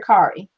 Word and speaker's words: Kari: okay so you can if you pronounce it in Spanish and then it sounds Norwegian okay so cardi towering